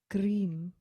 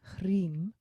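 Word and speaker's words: Krīṃ: the bottom om is the first word cream sometimes it's also recited as hreem but in this case we're going to use cream and it's a long eye so cream is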